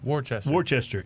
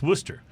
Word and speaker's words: Worcester: But you don't call it Worcester. It's Worcester.